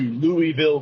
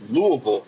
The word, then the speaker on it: Louisville: If you're from the Midwest, you don't go to Louisville, Kentucky. It's Louisville, Kentucky.